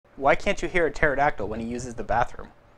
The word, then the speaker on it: pterodactyl: Why can't you hear a pterodactyl when he uses the bathroom? Because the P is silent.